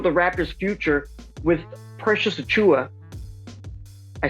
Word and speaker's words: Achiuwa: the progression for the raptor's future with precious chua i said it right this time yeah that's